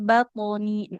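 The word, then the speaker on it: بَطْنِي: fi batoni. Huruf. Coba Ibu dikata batoninya dulu. Qalqalah to-nya.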